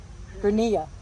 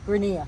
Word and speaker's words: Grania: Grenia, but I'm Grania 07.